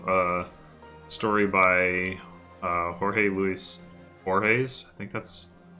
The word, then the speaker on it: Borges: reminds me of a story by Jorge Luis Borges. I think that's how you say his name. I know it's Borges.